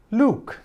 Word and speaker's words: Luke: Bien, Luke. Tenemos una sílaba, dos vocales, entonces corresponde el sonido alfabético de la primera. En este caso no es you, sino que es u, Luke.